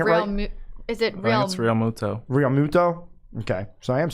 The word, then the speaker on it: Realmuto: I think I'm saying about is it bounce Realmuto Realmuto okay so I am saying right yeah